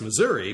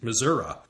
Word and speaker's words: Missouri: politician from a Midwestern State that most pronounced Missouri but the new president pronounced Missoura like Professor Bob Truman by